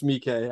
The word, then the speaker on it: Miike: I used to call him Takashi Mike, but it's Miike.